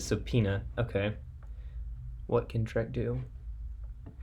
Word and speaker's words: subpoena: to respond to a is that how you say that hold up subpoena oh that's not how you say it subpoena okay what can Trek